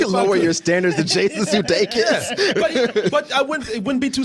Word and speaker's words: Sudeikis: Jason Sudeikis.